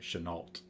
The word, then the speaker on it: Chenault: probably seven years ago I've always pronounced it Chennault with a hard T okay like the Colbert